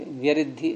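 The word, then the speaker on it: व्यृद्धि: अब या के नीचे री बोलने में आ नहीं पाती है उच्चारण में, वैसे तो यूं ही बोलना पड़ता है कि व्यरिद्धि ऐसे करके। या के नीचे री बोलो, नहीं केवल या और री, तो यरी निकला है मुझसे, आएगा ही नहीं उच्चारण में।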